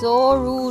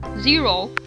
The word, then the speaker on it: Zoro: Z-O-R-O. Zero. It's Zoro.